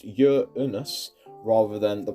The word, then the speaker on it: Uranus: This is obviously a joke entry, but Uranus is, according to NASA, pronounced Uranus rather than the pronunciation most used, which is Uranus.